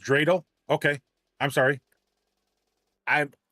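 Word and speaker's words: dreidel: Pronounced drele.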